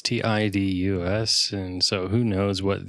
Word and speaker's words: Tidus: Apparently, I think that's Titus. Yeah, someone said it was Titus. Titus. I mean, it's Tidus, and so who knows what the translators were thinking, you know?